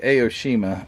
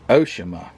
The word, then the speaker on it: Aoshima: I say Aoshima. I think it's Oshima. I hear the guys on the podcast, the Model Car podcast, or at least I hear Brian say, I think Oshima.